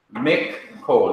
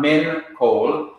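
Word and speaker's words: מכל: So instead of saying min kol, you now say mik kol, mik kol, mik kol, mik kol, mik kol, not min kol, but mik kol, which means from all or from every.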